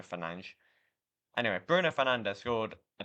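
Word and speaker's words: Fernandes: Or is it Bruno Fernandez? A lot of people say Fernandez, but I swear I pronounced it Bruno Fernanch.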